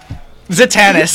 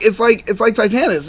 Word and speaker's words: Titanus: Kelly, how did Kelly say it wrong? Titanus? Zatanus. Yeah, Zatanus. That's what she said. But it's like Titanus.